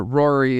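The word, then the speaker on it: Roary: is Rory the panther but Rory is spelled like r-o-a-r like roar oh God yeah I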